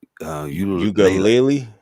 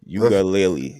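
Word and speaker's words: Uiagalelei: DJ Ugalele. Yes. Yeah. Ugalele.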